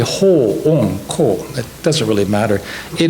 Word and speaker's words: Hoonko: It looks like hunko or something, or ho-onko, or it's actually ho-onko.